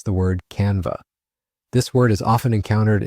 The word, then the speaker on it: Canva: The correct pronunciation of Canva is Canva. Let's repeat that together. Canva. Notice that it's a two-syllable word with the emphasis on the first syllable, con.